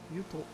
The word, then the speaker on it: Yuto: Also I wird wie O ausgesprochen. Yuti, Yuto.